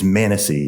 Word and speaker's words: Manises: Is it Manises? It is Manises. Manises.